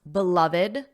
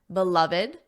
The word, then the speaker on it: beloved: Did you notice how I pronounced beloved, beloved? There are 3 syllables, beloved.